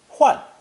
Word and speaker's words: 幻: It's pronounced fourth tone. Huan, huan.